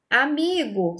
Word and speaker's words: amigo: Amigo, sílaba tônica, mi.